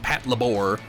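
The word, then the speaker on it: Patlabor: labor series i'm saying i'm saying pat labor i don't care if people think it's pronounced pat labor you wouldn't say i need to perform some labor they're called labors and it's a patrol labor so i can't imagine it anyway other than pat labor which is a weird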